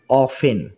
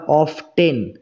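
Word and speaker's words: often: ঠিক আছে কতবার হাউ অফেন হাউ অফেন কতবার ঠিক আছে এখানে দেখো এই যে অফেন এই শব্দটা এই যে কি এই টি এর উচ্চারণ কিন্তু হবে না ঠিক আছে আমরা অফটেন এরকম উচ্চারণ করবো না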